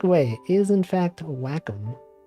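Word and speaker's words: Wacom: this my mouse yeah whack that's how you pronounce It Whack I used to think it was wcom but the correct way is in fact wack it's kind of weird I did not expect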